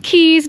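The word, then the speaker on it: cays: Georgetown into the ks they're actually pronounced Keys down here in the Bahamas but it looks like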